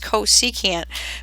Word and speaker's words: cosecant: a new function called the cosecant function it's pronounced cosecant but we abbreviate it CSC and I'll have